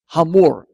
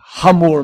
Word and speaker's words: Hamor: um homem muito importante ramor se pronuncia esse H aspirado senão ficaria SEME simplesmente amor mas o nome dele não é amor é ramor mesmo e esse Cavaleiro ele